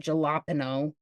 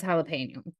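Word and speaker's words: jalapeño: Spanish words like saying he said galapo did not say galapo no he did they just said he said it he actually says jalapeno I usually say jalapeno well that's your because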